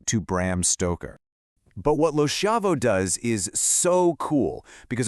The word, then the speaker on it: LoSchiavo: And a fantastic contemporary example is the award-winning poet LindaAnn LoSchiavo, and that's pronounced LindaAnn LoSchiavo.